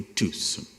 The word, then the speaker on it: Tucson: inglês do que eu, corrigiu a pronúncia do carro que eu tinha então e me disse que eu havia adquirido um Tucson, não uma Tucson, que este C não se pronunciava, por algum motivo que